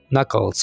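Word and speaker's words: knuckles: इसको हम साइलेंट रखेंगे क्रैकिंग द नकल्स उंगलियां चटकाना ऑलराइट फ्रेंड्स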